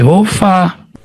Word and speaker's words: Yehova: Jadi yang benar ini bacanya apa? Ya Yehova.